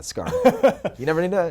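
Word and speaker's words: Skaarj: Oh, the J is silent, huh? At the end. Yeah, Scar.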